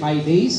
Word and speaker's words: Hades: वो यूनानी शब्द है, जिसका यूनानी में प्रोनाउंसिएशन थोड़ा सा फर्क है। यूनानी में उसका प्रोनाउंसिएशन हाइडेस है, लेकिन हिंदी में इंग्लिश में सब लोग हेडिस बोलते हैं।